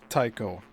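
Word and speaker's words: Tycho: like the wide variety of objects together making the so-called village in the vast impact crater Tao. And that's spelled T Y C H O.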